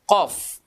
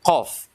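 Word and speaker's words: ق: Pangkalnya ketemu dengan langit-langit paling belakang ini. Disitulah makhrajnya huruf qaf. Jadi qa, qi, qu, baqo. Ah, kalau dia sukun dia ada pantulannya karena huruf qalqalah. Iya. Cara pengucapannya tidak boleh mengucapkan atau tidak boleh melafalkan huruf ini dengan memonyongkan mulut. Ya, kenapa? Karena huruf ini adalah huruf lidah, bukan huruf bibir. Jadi tidak boleh bibir ikutan ya.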